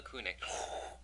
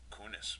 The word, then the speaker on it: Kunis: for you yes scarlett johansson or mila mila kunic kunis wow correct mila yeah that my first one